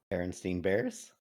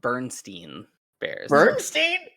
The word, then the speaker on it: Berenstain Bears: My wife says it Bernstein Bears. Bernstein Bears. Yeah. Nuh-uh. Nope. It's Berenstain Bears.